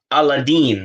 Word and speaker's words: Aladdin: I say that it's interesting because I did see that Hakeem did a video talking about Aladdin, apparently, is how you're supposed to pronounce it.